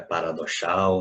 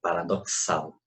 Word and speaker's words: paradoxal: Veja que não é paradoxal, não é paradoxal, é paradoxal. Eu vou fazer dois sons. Então, aquele X eu tenho que contar duas vezes.